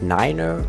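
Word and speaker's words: niner: in addition to that the numbers 9 and 3 are pronounced 9r and 3 on the radio 2 and 3 digit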